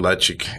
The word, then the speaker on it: Ledaig: I mean, that's almost a 20-year-old Ledaig is, and that is how you pronounce it, right? Ledaig.